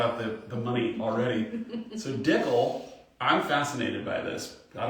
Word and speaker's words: Dickel: Yeah, I was intrigued by the Dickel name first. And we're already started on the wrong track. No. What? Because it rhymes with pickle.